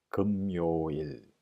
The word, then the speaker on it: 금요일: Actual word, difficult to pronounce. 금요일, 금요일.